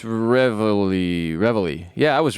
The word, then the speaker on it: Reveille: No, it's Reveille. Yeah, I was right. No, it's R-E. How do you Reveille. And it's pronounced Reveille.